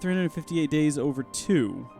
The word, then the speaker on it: 358/2 Days: new stream Hank yeah it's actually pronounced 358 days over 2 that makes less sense